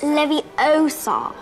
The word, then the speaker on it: Leviosa: someone's eye out besides you're saying it wrong it's leviosa besides means the same